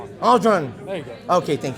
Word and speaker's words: Ardron: What's the correct pronunciation of your last name? Tyler? Tyler Ardron. Aldron.